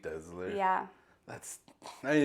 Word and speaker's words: Desler: my husband's English and everyone in uh his family says desler really mhm so I actually say my own name wrong dler I usually say dler yeah but it's like a z desler yeah that's I me